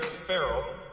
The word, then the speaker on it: Farrell: Now, Deputy Mayor Farrell, which rhymes with Mayor Harrell, by the way, is hitting the ground running on our transportation, parks, and climate portfolio.